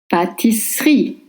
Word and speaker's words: pâtisserie: In French, double S makes the sound S, like in snake, not sh. Pâtisserie. In French, when E is after two same consonants and followed by a consonant, you don't pronounce it, right?